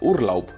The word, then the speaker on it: Urlaub: Esto no tiene más complicación, se lee tal cual, Urlaub.